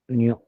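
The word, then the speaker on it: ν: represented by presented by new like we will pronounce it as a new menu okay and uh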